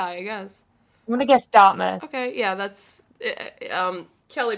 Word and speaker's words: Dartmouth: I'm gonna guess Dartmouth. Okay, yeah, that's... Kelly pronounced it good. Listen to Kelly. Dartmouth, darling.